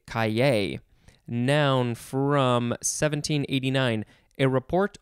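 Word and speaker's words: cahier: I think it's either kaye, or kaye, or kaye. There's kaye or kaye, something like that. It is spelled C-A-H-I-E-R. I'll just say kaye.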